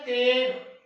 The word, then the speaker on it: تیغ: تو عزیز طلبہ پہلا لفظ ہے تیغ. تیغ کے تے کے اوپر زبر آنی ہے اور یہاں بھی جزم